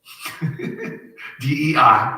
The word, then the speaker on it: Dei: Okay, if you do the gematria on Vicarius Filii Dei, D-E-I, but pronounced Dei.